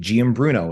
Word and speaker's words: Giambruno: and um I have with me today Nick giambruno is that the correct pronunciation or is it Gambler yes that's correct